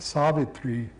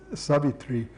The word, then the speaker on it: Savitri: This is not Savitri, with a long A and a long final I, but Savitri.